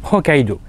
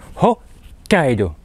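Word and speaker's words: 北海道: et puis à louvous nous avons notre petite particularité le petit S qui se met à côté du ha c'est pas un tessous c'est un petit sous qui va prévenir qu'il va falloir prolonger la lettre qui suit qui est le cas h Kaido pas hokido Hido d'accord alors ensuite vous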